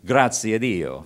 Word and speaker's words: Graziadio: And in a lunch meeting one day, George Graziadio, pronounced properly, Graziadio, thanks to God, George Graziadio said to me, "Andy, I live in a state of perpetual dissatisfaction."